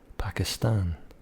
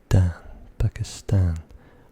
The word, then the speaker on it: Pakistan: One is a proper name of a country, Pakistan. And I noticed that even though the T is right near the end, third letter from the end, we pronounce it.